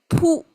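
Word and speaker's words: 卜: So this pu is how it's pronounced.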